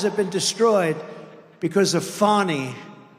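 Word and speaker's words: Fani: been destroyed because of fonny f a n i fny you have to pronounce it Fon it's called Fanny you have to pronounce fny I don't know how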